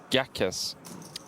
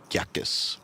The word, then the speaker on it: Gatsis: So, it's pronounced Gatsis. Gatsis. Gatsis.